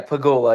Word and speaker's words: Pegula: What was it like playing in front of a ruckus student section at Pegula Ice Arena? Did I pronounce that correctly? Yeah, Pagoula.